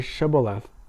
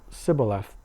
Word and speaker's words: Shibboleth: When he said no, they said to him, Then say Shibboleth. And he said Sibboleth, for he could not pronounce it right.